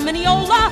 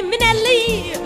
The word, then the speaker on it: Minnelli: It's M-I-double-N, then E-double-L-I. You double up the N, that's not new. Then E-double-E-L, end it with an I. That's the way you say Minnelli, Liza Minnelli.